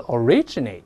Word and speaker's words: originate: 首先 origin 变成动词 originate，这重音后移了，后面就可以加 in，常见的加 in。